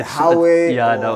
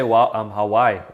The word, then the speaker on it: Huawei: Because it's an H, and then I say Huawei. It's Huawei. Okay, because I'm sure there's a lot of people that I don't pronounce it correctly. Yeah, they normally say Hawaii. That's also another way to pronounce it. So it's Huawei.